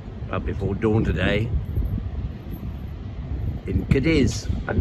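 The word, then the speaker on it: Cádiz: before dawn today in cadiz and the locals pronounce it cardis rather sounded like cardiff well the sun has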